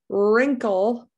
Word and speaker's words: wrinkle: t can be silent wrinkle i don't hear that w answer also that w is silent rhyme r i i